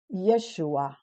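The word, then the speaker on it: ישוע: on the right side this letter is pronounced sh so it's ye shu this is silent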